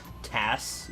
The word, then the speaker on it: TAS: or TAS emulator, because apparently it's like an acronym, you're supposed to like say it like TAS, you know? Like FUBAR, you're supposed to say it. You're not supposed to... It's not like an initialism where you gotta say FBI.